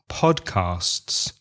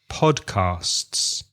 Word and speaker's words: podcasts: similar with part Castes because you have the s and the T and the s together so listen carefully and repeat podcasts podcasts and one other word